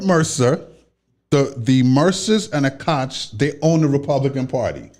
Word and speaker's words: Koch: Koch brothers. Right. Not Coke the soda.